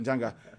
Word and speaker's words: Njanga: c'est Njanga ou je prononce? C'est Njanga.